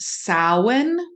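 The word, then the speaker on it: Samhain: Listeners out there, when you see the word Sam Hayne, it literally is pronounced sin.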